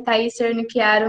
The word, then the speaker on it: Thaís Cernichiaro: Mas a pronúncia do meu nome tá certa, é Thaís Cernichiaro mesmo, né?